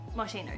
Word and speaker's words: Moschino: is a brand that's not australian this is marshino marshino yes martino that's how you say it i got moschino